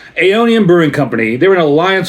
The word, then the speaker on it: Aeonian: Aonian Brewing Company.